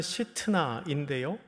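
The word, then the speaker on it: שִׂטְנָה: 두 번째 우물은 이름을 신나라고 했습니다. 원래 발음은 시트나인데요, 비방하다, 증오하다라는 뜻입니다.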